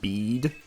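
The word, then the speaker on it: Bede: someone informed me that this dude's name is pronounced bead apparently in Japanese his name is just beats like the vegetable I gave you that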